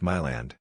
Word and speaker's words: Milan: They said it is Milan like Myland.